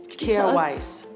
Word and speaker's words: Kjaer Weis: little tongue twisted with here's didn't kill Weiss like a kir Royale exactly that's always my